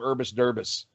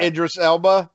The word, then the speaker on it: Idris Elba: I I think uh I can never say his name right. I always call him Urbis Derbis. Oh yeah. Yeah. Yeah. Ibis or something. Yeah. Yeah. Idris Elba.